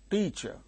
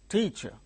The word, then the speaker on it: teacher: Look, the word teacher, teacher. There are two syllables, T-cher. In these two syllables, the first syllable is uttered with a greater force. That means, the first syllable gains stress.